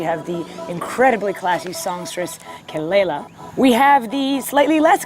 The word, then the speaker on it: Kelela: So what's the correct pronunciation? Kelela. Kelela.